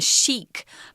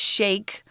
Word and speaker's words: Sheikh: Tom before we started when we were kids we would call this this person the Sheikh but it's now pronounced Sheikh more or less it's a weird spelling so anyway he wasn't